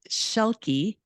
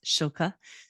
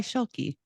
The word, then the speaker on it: Schielke: It's Schielke. It's German. My husband's. I'm borrowing it, I guess. But I think the original pronunciation is Schilke. But here in the United States, we go by Schielke.